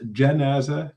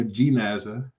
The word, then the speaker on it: janaza: Just so you know, this word janaza, Jan, it can be pronounced janaza, Jan, or jinaza, Jin, but A is afsah. It's more eloquent to say janaza than it is to say jinaza, just for your benefit.